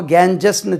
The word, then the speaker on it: Ganges: GANGES, GANGES உச்சரிப்பு பாருங்கள். நம்ம கேஞ்சஸ்ன்னு சொல்லி படிச்சிருக்கோம். கேஞ்சீஸ், கேஞ்சீஸ், கேஞ்சீஸ், ஜெட்டில் முடியணும். கேஞ்சீஸ், த கேஞ்சீஸ், த கேஞ்சீஸ் ரிவர், த கேஞ்சீஸ். கங் இது கேஞ்சஸ் சொல்லக்கூடாது.